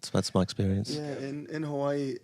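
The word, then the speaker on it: Hawaiʻi: Hawaii. Yeah. Well, yeah. It's actually it's pronounced. If you want to pronounce it correctly, it's pronounced Hawaii.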